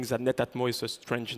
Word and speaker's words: Netatmo: know that some of you are saying that netatmo is a strange name It's true and the Japanese Basically to pronounce it split it into two parts Netta